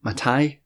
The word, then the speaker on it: Mattei: the capital order by clada mate I think that's how you pronounce her name matai was another great read